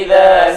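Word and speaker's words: إذا: Wallaili idza saja. Perhatikan pada kata idza. Cara membaca za, ujung lidah dikeluarkan sedikit. Idza.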